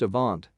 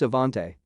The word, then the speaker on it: Avant: boy in our school named avant pronounced a vaunt mother insisted the accent made the e silent she would come completely unglued when anyone said his name wrong lady that's Avante Update I have no